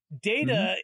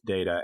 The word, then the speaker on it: Data: Before we get to the problems with Data in this episode, you mentioned the way his name is pronounced because. Yes. It gets pronounced, the word in real life gets pronounced both Data and Data.